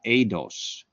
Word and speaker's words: eidos: The Greek term for ideas, ideia, spelled the same way, and the Greek term for form is eidos, E-I-D-O-S, eidos.